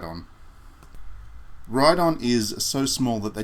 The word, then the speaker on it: Rideon: that developer's name is ride on japan now i used to think it was pronounced ready on because in english the name is always condensed into the one word